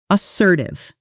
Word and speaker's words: assertive: Let's pronounce it as sir tithe. The stress falls on the second syllable and that sir part rhymes with her. Practice with me. Assertive.